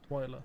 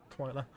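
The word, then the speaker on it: Twyla: or Wiki Monster High twia English pronunciation twer twiler okay it's like I said then twiler twer twiler nice to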